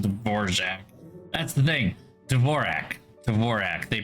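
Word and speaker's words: Dvořák: I do know that the composer is anonin dvorac and the keyboard layout is Dvorak it is actually Dvorak um but the reason the keyboard layout is dorak is because when the guy who created the keyboard layout moved to the United States He Americanized his name um whereas dvorac I mean you just pronounce it the way it's it's it's passed through an American accent but it's not yeah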